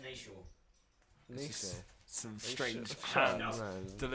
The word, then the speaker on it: Nietzsche: Yeah, it's Nietzsche. He's German, so it doesn't really matter. Yeah. It's pronounced Nietzsche.